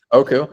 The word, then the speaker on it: Oku: Do I pronounce it correctly? Is it Oku? Yeah. Yeah. Yep. Exactly right. Oku.